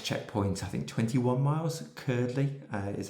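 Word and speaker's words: Cuerdley: The next checkpoint, I think 21 miles, Curdley is how you say it, bold.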